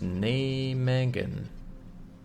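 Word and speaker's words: Nijmegen: Pronounced nay Megan. Nay Megan.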